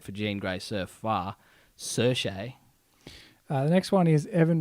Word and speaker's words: Saoirse: So it's Saoirse. Saoirse Ronan. Saoirse Ronan. We had to look up the Google Wiki pronounce on that. Saoirse.